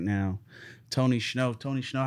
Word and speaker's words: Tony Shhnow: of my favorite songs right now tony schnow tony shnow how are we doing today how are we doing today my boy am i pronouncing that right yeah he was all right